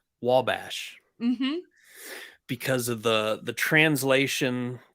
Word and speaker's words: Wabash: was a state park, and everybody called it Obachi State Park. oh no. But what's hilarious is it's Wabash, Mm-hmm.